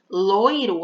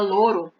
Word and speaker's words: loiro: Loiro, a gente mal escuta o I, né? Quando a gente fala loiro, tem gente que nem pronuncia o I, fala louro, né?